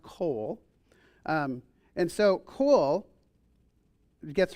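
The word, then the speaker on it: קול: And so the the word for voice which is pronounced coal.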